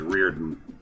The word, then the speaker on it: Riordan: that I've discovered that the way that name is actually pronounced is Riordan. Oh, Riordan. Yeah. Thank you. I know, it doesn't look like it's pronounced that way, but it is. Actually, if it's Irish, that makes sense.